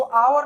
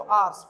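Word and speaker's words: hour: इसको आवर नहीं पढ़ना चाहिए, आर पढ़ना चाहिए, और एस लगा देंगे तो आर्स, 5 आवर्स, आवर्स नहीं, बिल्कुल गलत प्रोनाउंसिएशन है।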